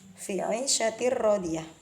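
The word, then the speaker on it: في عيشة راضية: Saya baca awal dari Fi 'ishatir radiyah. Fi 'ishatir radiyah. Fi 'ishatir radiyah. Jadi bacanya bukan fi 'ishatir radiyah. Itu cara membaca yang salah.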